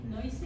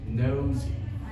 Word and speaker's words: nosy: This word noisy? Pronounces nosy. Nosy. Nosy, yeah. It derives from the noun nose.